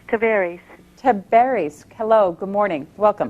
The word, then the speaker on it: Tavares: Is it Tavares? No, ma'am, it's Tavares.